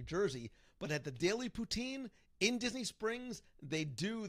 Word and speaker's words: poutine: Okay, so in English, you refer to it the standard French way of pronouncing it, poutine.